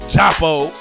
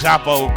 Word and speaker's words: Djapo: We having an African reggae type theme today because we got the ladies of JAPO, because the D is silent, like Django. It's like Django little cousin name. But it's JAPO Cultural Arts Institute.